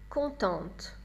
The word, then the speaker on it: contente: Content, contente. Vous avez entendu la différence de prononciation.